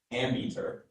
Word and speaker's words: ammeter: Your word is ammeter.